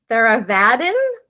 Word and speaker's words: Theravadin: teacher you practice let's see if i could pronounce this correctly theravadin buddhist meditation is that correct that's very good